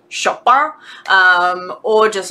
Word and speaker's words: Chopin: pronounce her surname c-h-o-p-i-n for me that sounds french i'm tempted to like put on a slight french accent and go shopper um or just like